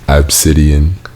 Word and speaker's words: Abcde: and it's obscene stop her name is spelled ABCDE and their name is obsidian you're lying down talk